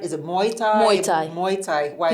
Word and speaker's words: Muay Thai: Muay Thai. Muay Thai. Why it's like hard. My dad used to say Muay Thai. Muay Thai. It's like a drink.